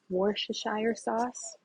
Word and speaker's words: Worcestershire: okay we're gonna add a little bit of Worcestershire sauce okay that's how you say it and shake